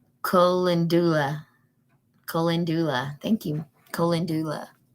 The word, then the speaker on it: Calendula: Colendula. Did I do close? Thank you, Miss Betty. That's how you would pronounce it.